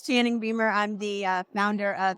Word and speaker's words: Channing Beumer: y'all I'm just joking it's Channing my name is Channing Beamer I'm the uh founder